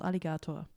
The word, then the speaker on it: Alligatoah: times about this because many people are not able to say his name right they say aligato Alig they don't get it but it's it's simple as that it's like the animal aligato behind this is